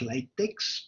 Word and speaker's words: LaTeX: So LaTeX, it's spelled like latex, but it's pronounced as LaTeX.